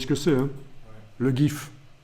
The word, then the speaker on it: GIF: Je ne sais pas pourquoi on le prononce GIF. Oui, c'est parce qu'en américain, le G se prononce J. Ça doit être pour ça. Sinon, ça vient de graphique interchange format. Donc, c'est bien un G.